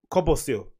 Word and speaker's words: Kobosil: Kobosil, how do you pronounce his name? Kobosil.